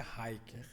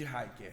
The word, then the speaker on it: Riker: David, D-A-V-I-D, Riker, R-I-K-E-R, que é a pronúncia Hiker, né? Mas é com I. O Lucas já ia corrigir. Acertamos aqui. então, viu, David Gabi? David Acertamos. Riker. David Hiker.